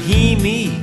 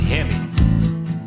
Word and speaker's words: Hemi: what it means when I see that word he me on the side of your Moine will I damn near cry I said son that's pronounced Hemi I tell you what it means h means